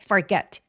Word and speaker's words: forget: 여기서 forget은 강세가 이음절, got요 부분에 오기 때문에 forget 혹은 과거면 forgot 요렇게 강세를 주시면 됩니다.